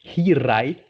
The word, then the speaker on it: Hiraeth: It's pronounced Hiraeth, Mm-hmm.